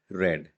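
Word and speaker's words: read: तो रीड, रेड, रेड, तो ये है रीड के फॉर्म्स।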